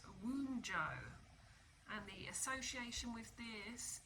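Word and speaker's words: Wunjo: It's actually pronounced Woonjo, and the association with this is harmony, joy of life, prosperity, well-being, fellowship, and self-worth.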